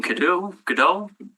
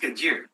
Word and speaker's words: Godot: Next in opposition is Godot. if you'd like to come forward, 5 minutes to make your presentation. It's pronounced Gadieu.